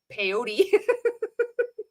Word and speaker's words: peyote: It was all, then you did peyote. It kind of rhymes with Don Quixote.